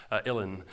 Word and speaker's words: uilleann: And finally, the uilleann pipes, again, just as it's spelled, uilleann.